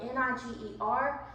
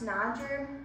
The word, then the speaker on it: Niger: trip with those students and we went to Niger that is the country that I live in now it's spelled n-i-g-e-r in English it's pronounced Niger but in French it's pronounced Niger French is